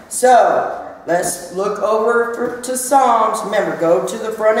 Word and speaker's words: Psalms: Go to Psalms, and you know that's, and it's spelled with a P, even though the P is silent.